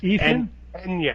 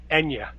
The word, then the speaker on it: Eithne: It's pronounced Enya. No, Enya. Enya. Oh, like the uh like the like the musician. Ena. Okay. Apparently the th is silent in uh in Irish.